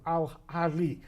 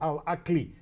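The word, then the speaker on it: Al Ahly: we had a representative Al Ali or Al Aki both pronunciation are correct uh the Egyptian Club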